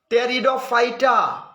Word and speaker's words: Pteridophyta: टेरिडोफाइटा, ये टेरिडोफाइटा में जो लिखते हैं स्पेलिंग इसका P से शुरू होता है, लेकिन P साइलेंट रहता है महाराज जी।